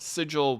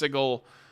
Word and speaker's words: Sigil: Some people call it Sigil, but technically it's pronounced Sigle.